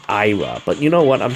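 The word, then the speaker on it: Eir: The Astra 2 charge, and then you have Era's blade, which gives you... I think she's supposed to be pronounced Ira, but you know what?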